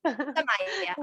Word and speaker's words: Sumaya: Am I saying it right? It's Sumaya, it's fine. Samaya.